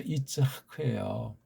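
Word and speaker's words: יִצְחָק: 그 다음에 여기 이사아크도 이게 원문엔 이츠하크잖아요. 그렇죠? 이츠하크예요. 그럼 이츠하크를 우리말로 표기를 하는 거예요. 이츠하크 이걸 그냥 이삭 미국 하든 아이작 뭡니까 이게 구약 발음을 완전히 아는 사람은 없죠.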